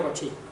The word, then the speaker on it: Cauchy: Se escribe Cauchy pero se lee Cauchy. Un compañero lo llamaba el cochino Cauchy.